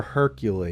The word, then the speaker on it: Hercule: Is it Hercule or Hercule? Because it's Hercule, yeah. It's French, so they don't pronounce any of those vowels or anything.